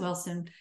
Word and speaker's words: Ellson: They put an I in there, which is very irritating.